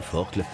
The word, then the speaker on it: Forcle: Quant au duo Axel Mollaret-Lorna Bonnel quand il se présente au col de la Forcle, se prononce bien Forcle, il est aisé de constater qu'elles accroissent encore leur avance avec une facilité apparente déconcertante.